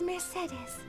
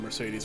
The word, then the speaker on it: Mercedes: There was somebody in my middle school who was named Mercedes, which is also why I say it like that and not the way that it is said in the game.